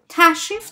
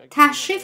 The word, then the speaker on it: تشریف: In colloquial Persian, in tashrif dashte bashin or tashrif avordan, the re is silent and we do not pronounce it. So we say tashrif dashte bashin, tashrif avordan. We don't pronounce the re sound.